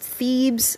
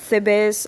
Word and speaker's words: Thebes: called the base i'm so sorry it's actually pronounced thebes not the best i'm cringing at myself so hard i'm so